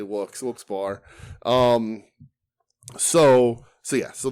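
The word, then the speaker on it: Wilkes-Barre: no I say Wilson Oh I say walks Wilkes bar um so so yeah so that's when we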